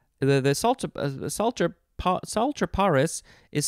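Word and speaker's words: Psaltriparus: the salt the salter sultraparis is spelled p s a l t r i a did i say it correctly i think i did i think the p is silent sultry paris minimus uh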